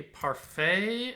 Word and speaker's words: parfait: Rapport, bouquet, parfait, and ragout have a silent T in them.